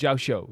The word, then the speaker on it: Xiao: those things like I'm not very good with pronunciations all the time as you guys know, but it's it's Xiao.